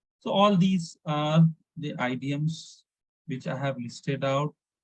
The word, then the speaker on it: idiom: So that is called as idioms. Okay. So look at the meaning of idioms here. IDM. IDM. Look at pronunciation.